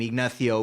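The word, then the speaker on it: Ignacio: People don't want to pronounce my full name, Ignathio, which is, you know, it's only four syllables.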